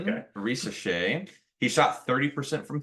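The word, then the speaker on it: Risacher: So number 1 pick, Zachary Rashashar. Nope. I said it right. Risachet. That's what I said. Okay. Risachet.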